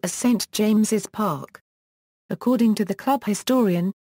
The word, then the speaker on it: St James's Park: Park of St James, the name of the ground is correctly written as St James's Park, with the second S pronounced.